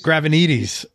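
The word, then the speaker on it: Gravenites: Nick Gravanides. Nick Gravanides. Yeah, okay. Nick Gravanides is a Greek name. That's how you pronounce.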